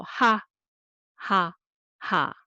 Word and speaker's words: 하하하: So ha ha ha ha ha. So let's do. So this is easy, right? So hu plus a and repeat two more time. Ha, ha, ha, ha, ha, ha.